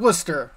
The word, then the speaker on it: Worcester: Trickster of Worcester. Pros, it rhymes.